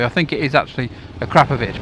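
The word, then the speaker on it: Akrapovič: know and a Claire a crap of itch Akrapovic no one can say it properly I think it is actually a crap of itch but that just doesn't sound as good to me yeah you can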